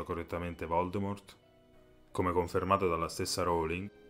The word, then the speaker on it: Voldemort: Come si pronuncia correttamente Voldemort come confermato dalla stessa Rowling si pronuncia senza la t che è silenziosa Aggiungendo che probabilmente lei